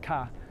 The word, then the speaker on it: K: say kkk they say in brazilian portuguese the letter k is pronounced ka so brazilians use the